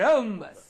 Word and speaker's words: rhombus: Okay, rhombus. Very good, very good, very good. So many words are there in the combination R-H at the beginning of a word, where this letter H is Silent.